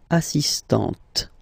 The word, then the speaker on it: assistante: But for the feminine form, elle est assistante.